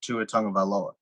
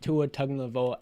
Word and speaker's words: Tua Tagovailoa: But I still don't believe in Tua Tagovailoa.